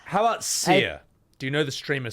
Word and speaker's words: Cyr: Well, How about Seer? Do you know the streamer Seer?